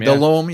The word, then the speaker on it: Delhomme: Delom. Yeah. Because I had asked you how to pronounce it.